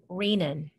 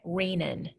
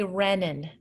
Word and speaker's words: renin: the distress signal is they secrete an enzyme called renin that's how we say it rainin do not say Renan retinas spelled differently Renan